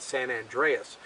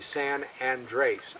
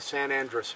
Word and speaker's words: San Andres: It takes its name, a lot of people mispronounce it, they call it San Andreas, but it's actually San Andres, A-N-D-R-E-S. It's named after the San Andres Mountains, which are in southern New Mexico.